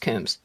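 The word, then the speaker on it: Coombs: That's one of my family names, but but our family name is pronounced Kums, but it's got two O's in it.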